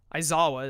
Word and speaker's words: Aizawa: Aizawa is how that's pronounced, I believe, actually, with his ability at the cost of triggering Appeal to Pride, which will let Kidjays move Goku, unfortunately.